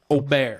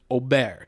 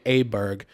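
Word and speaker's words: Åberg: G I know that I know it changes the a to an O and the man has said again my tall Swedish born son ludvig has said it is pronounced Oar and so that's the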